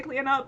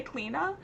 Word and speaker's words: Cleana: And I will say with Cleana too that with the full name there is an alternate pronunciation that is just as correct as Cleana. I say Cleana, but you can also say Cleena.